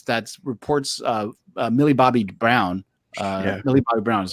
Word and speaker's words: Millie Bobby Brown: Millie Bobby Brown is how you say it, right?